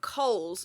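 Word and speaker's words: Kohl's: And then the weirdest thing is they've got Coohl's which is K O H L S. Oh yeah. But it's pronounced the same as our Coohl's which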